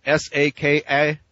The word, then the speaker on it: Saka: The Saka, S-A-K-A, Saka, which would be your Indo-Aryan pronunciation.